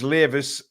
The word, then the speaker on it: Leis: my surname correctly uh it's leis as Davis cheers guys leis